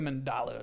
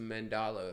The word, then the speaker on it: Mandela: It all Is since it, this is it the TED Talk, Mandela bro, effect or the Mandala effect? It's the Mandela effect.